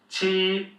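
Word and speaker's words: 七: them together so liù A "q" sound is a bit peculiar, it's like a bit of a "t" and an "s" so it's "ts" qī This one is easy bā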